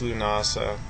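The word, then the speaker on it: Lughnasadh: lamas um and it's it's pronounced lunasa even though um there's like this d in there um it uh literally means the marriage of Lou.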